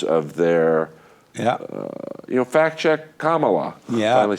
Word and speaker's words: Kamala: Fact check Kamala. Yeah. Finally said it right. Interrupt her once. I call her Camilla.